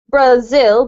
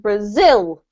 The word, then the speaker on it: Brazil: You have to put the emphasis on the second syllable. So you don't say Brazil, but Brazil.